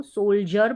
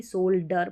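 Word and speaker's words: soldier: पढ़ रहे हैं जैसे इसको सोल्जर पढ़ते हैं ना कि सोल्डर पढ़ पढ़ते हैं सोल्जर तो डी आई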